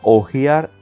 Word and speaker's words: hojear: Por ejemplo, cuando decimos, me gustaría ojear el documento. Y tenemos la palabra ojear con H en este caso, que significa cuando se pasan las hojas de una revista, diario o libro.